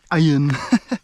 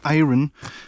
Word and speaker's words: iron: all right very big Iron signal or rather iron someone really got mad at me for saying iron because apparently the r is silent English does not make